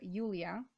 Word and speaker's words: Julia: My name is Julia, or Julia, at least that's how it's pronounced where I live.